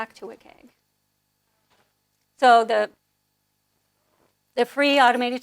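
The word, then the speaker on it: WCAG: use it okay so wick egg stands for web content accessibility guidelines um and it's commonly pronounced wick and they our guidelines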